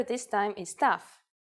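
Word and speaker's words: ταυ: with them our first letter this time is tough it's a consonant and its sound is you may have heard it called Tau which is its usual name in English I'm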